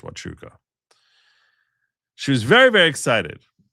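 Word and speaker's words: Huachuca: There was the name of the place was Fort Wuka, spelled Huachuka, but I think it's pronounced Wuka.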